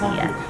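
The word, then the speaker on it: Oia: It's spelled O-I, but it's pronounced Ia.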